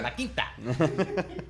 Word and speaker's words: La Quinta: La Quinta.